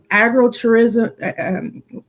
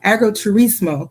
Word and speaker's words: agriturismo: And so agritourism, well, see, I say it wrong every time. It's like agriturismo, because I was in Italy.